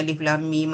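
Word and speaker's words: الم: surah dalam al-Quran contohnya alif lam mim alif lam Ra ni semua dia daripada huruf hijaiah. Cara baca dia kita kena sebut nama huruf tu sendiri.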